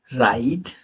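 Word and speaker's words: write: आर के पहले W silent होता है, आर के पहले अगर डब्ल्यू आ जाए तो वो साइलेंट रहेगा, वो शब्द साइलेंट रहेगा। कैसे रहेगा? Wrong, राइट, rap, wrapper, रिस्ट।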